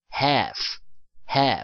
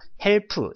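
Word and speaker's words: half: l 발음 l 발음 l 발음은 발음이 나지 않습니다 그래서 헬 수가 아니라 해 라고 발음을 합니다 자 그러면 3시 30분을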